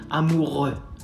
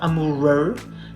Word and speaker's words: amoureux: Again, comes from the throat, like you're trying to spit something out, something stuck here, you're like amoureux. Not amoureux, not amoureux, amoureux, amoureux.